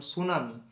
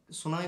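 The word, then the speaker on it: tsunami: ইংরেজিতেও silent থাকে যেমন সুনামি সুনামি বানান যখন লেখা হয় তখন সেখানে টি লেখা হয় কিন্তু উচ্চারণের সময় টি এর উচ্চারণ করা হয় না সাইকোলজিতে পি দিয়ে শুরু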